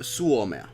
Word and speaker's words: suomea: is a difference, because if you say puhun, it's wrong. If you, minä en puhu Samantha Stockings. suomea, Finnish it day basically woohoo. is suomea. Then you are saying it right.